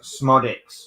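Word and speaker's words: Szmodics: oh okay so Balon in case you're watching it's smodic I get I knew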